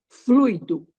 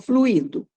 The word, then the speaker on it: fluido: para vocês fluido e não fluido um acento no i' muito é a tônica tá no Hugo fluido e não fluído fluído é veneno E aí Oi tudo